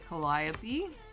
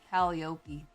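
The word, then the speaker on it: Calliope: Colliopy. The first time I ever saw Collopy in writing, I said Caliop.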